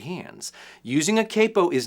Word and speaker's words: capo: Tommy at the g7th Capo company in the UK calls it the Capo that's technically a more accurate pronunciation because the original word is capotasto which is Italian for head tie because we sort of